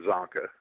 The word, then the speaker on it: Csonka: nickname a well my name spelled CSO nka pronounced chunka it's Hungarian and a lot of people uh you know are getting confused by the C and the S uh pronounced it wrong so I just uh it's actually pronounced Sanka like the C is silent just s o n Ka Sanka but people had trouble remembering that so I just said or zanka I put a z